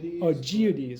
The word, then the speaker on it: Augoeides: Iamblichus referred to this agent as the Augoeides. I'm probably saying that wrong. Enrico, how do you got it? I pronounce it Augoeides. Augoeides.